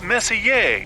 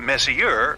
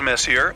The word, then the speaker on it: Messier: well young lady the m stands for Messier pronounce Messier not Messier as in is your room messier than M Charles Messier I mean Messier to be precise was a